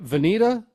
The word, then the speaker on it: Vinita: And we got a real treat today because Vinita, Oklahoma, is Yes, that the correct pronunciation of the town?